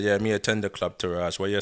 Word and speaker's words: MeAttend: really understand that term, I put it in an English way and spelled it the English way. So it's pronounced me attend rather than Yeah. Exactly. rather say me attend.